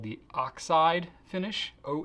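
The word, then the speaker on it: Oxyd: excellence a twos and the are called the oxide finish Oh X Y D it's pronounced oxide as opposed to the scientific spelling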